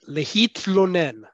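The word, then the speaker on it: להתלונן: That tla sound, the combination of taf with a silent vowel followed by lamed, is a hard sound to make for a native English speaker because we don't have that sound.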